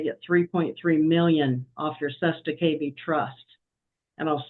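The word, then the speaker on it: cestui que vie: walk in, they get $3.3 million off your Sesta KB trust. And I'll spell that for you if you want, but it's CESTUI space QUE space VIE trust.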